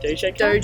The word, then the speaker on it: Doja Cat: Doja cat?